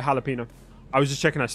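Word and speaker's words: jalapeño: abuser by the way you don't need to put the the accent on the end uh for jalapeno I was just checking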